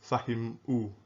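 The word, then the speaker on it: فهموا: So this is essentially, this alif here is silent, so this is why this is pronounced fahimu. You don't pronounce this alif at all.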